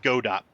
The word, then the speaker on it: Godot: looking at godo dot it looks like Godot but it sound like they pronounce it godo okay that's a different